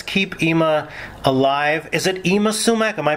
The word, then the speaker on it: Yma Sumac: photos and let's keep ima alive is it ima sumac am i pronouncing it properly that's right may we keep